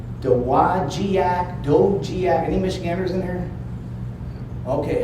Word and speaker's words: Dowagiac: How the hell do you say that? Dowagiac.